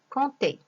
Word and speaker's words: compter: Exemple, un baptême, cette, compter. D'un H, le bonheur, une silhouette, un bonhomme. Alors, comme vous voyez, ces lettres écrites en vert, on ne les prononce pas. Ce sont des lettres muettes.